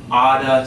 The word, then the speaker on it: ought to: They might say, you oughta study, okay?